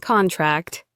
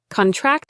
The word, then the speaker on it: contract: Contract. Contract.